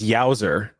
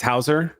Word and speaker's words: Hauser: Is that it's I always thought it was Yowzer, but it's Hauser.